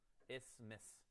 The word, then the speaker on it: isthmus: How do you pronounce this word? What? It's just isthmus? Oh, that is so nice.